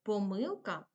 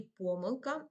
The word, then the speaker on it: помилка: словами будуть помилитися помилковий А як правильно казати помилка чи помилка Як ви гадаєте слово помилка має подвійний наголос тому правильно буде І так казати і так і помилка і помилка зараз виконаємо четверте